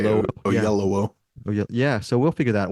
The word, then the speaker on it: Oyelowo: I don't know if I'm pronouncing the name correct. Oyelowo. Yes, and Yeah, it Kaylee sounds like you're Cuoco. saying it wrong, but I guess that's how you say Oyelowo. it. Yeah. Oyelowo.